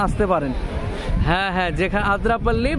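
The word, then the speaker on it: Athirappilly: হ্যাঁ হ্যাঁ, যেখানে আদ্রাপল্লি বা এথারপল্লি, অ্যাকচুয়ালি উচ্চারণটা হবে এথারপল্লি, আর ডাকনাম আদ্রাপল্লি বা বাহুবলীর শুটিং হয়েছিল এই ঝর্ণা বললে এই জায়গাটা দেখানো যাবে।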